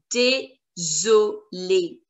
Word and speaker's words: désolé: We say désolé. Désolé. Désolé. Désolé. We've already done the accent. Accent aigu. And the pronunciation is A. Dé. Désolé. Désolé. Z. The sound of single S is Z.